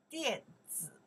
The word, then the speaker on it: 电子: Email in Chinese, we say 电子邮件电子邮件，电子邮件 again，电子 this character pronounce 电 this character pronounce 子 you know